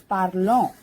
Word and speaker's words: parlons: Je parle, tu parles, il parle, elle parle, elle parle, nous parlons, vous parlez, il parle, elle parle. So ONS is pronounced as on. That's why it becomes parlons.